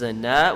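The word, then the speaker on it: أنا: Ana is one of them. Ana is always pronounced ana, not ana.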